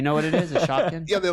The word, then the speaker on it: Shopkin: you had a Shopkin and you were like a god. A what? It's spell it for me. A Shopkin. It's shop, just like it sounds. And then Shopkin.